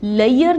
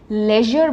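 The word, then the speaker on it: leisure: बट इसकी correct pronunciation क्या है लेजर य साउंड है जो दूसरे वर्ड्स हैं प्लेजर मेजर ट्रेजर तो यह साउंड है हम इसको प्लेयर नहीं बोलेंगे प्लेजर बोलेंगे वैसे ही लयर नहीं बोलेंगे लेजर बोलेंगे यर साउंड के साथ अब इस वर्ड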